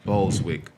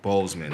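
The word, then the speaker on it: Boseman: in our time man chad boswick chadwick i'm sorry i said his whole name wrong chad's with bozeman you know but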